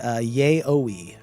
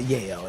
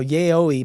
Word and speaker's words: yaoi: It's definitely not that. There's no chance it's that. No shot. Now yaoi may not be correct either, but how do you spell it anyway? It's Y-A, is it Y-A-I-O or Y-A-O-I? Y-A-O-I. So I think yaoi is more correct.